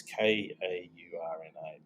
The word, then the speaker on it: Kaurna: It's written with a K. It's Kaurna. It's pronounced Ghana, like the country in Africa.